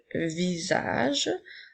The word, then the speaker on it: visage: vu encore une fois la lettre S fait le son puisque elle est entourée de voyelles et le sont juste s'écrit avec un jet doux le visage comme dans la phrase